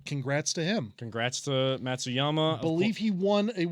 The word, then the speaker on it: Matsuyama: green jacket winner we we do uh hideki matsusama tsuyama matsuyama there we go come on jordan climac come